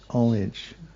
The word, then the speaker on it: homage: pronunciation, but I I I looked up the American pronunciation and the H is generally not pronounced is what is what it said. Yes. Homage. Homage. Homage. Homage. Omage.